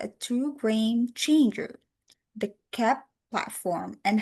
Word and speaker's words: Keap: They pronounced KEAP, KEAP.